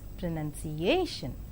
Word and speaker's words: pronunciation: prominent that is telephone in five syllable word pronunciation the penultimate syllable is more prominent thatis pronunciation and in the three